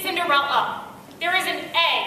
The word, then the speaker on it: Cinderella: to say my name they're always running around going cinderelly cinderelly gets cinderella up there is an